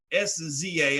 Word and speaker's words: SZA: One of them is an artist by the name of SZA, S-Z-A, I guess it's pronounced SZA.